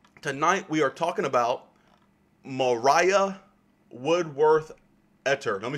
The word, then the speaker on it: Maria: heard of her as maria woodward etter and that's not really how you say her name her name is spelled maria but it's actually pronounced as mariah as mariah and so you might